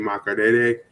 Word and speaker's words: Makerere: They will be launching their first debut of their app in Uganda at the University of Makerere, and That's how you say it.